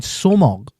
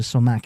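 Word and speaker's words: sumac: International, yeah, because I can find somog in my Asda now.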